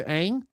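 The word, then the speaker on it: Aang: Night Shyamalan he used Ong instead of Ang?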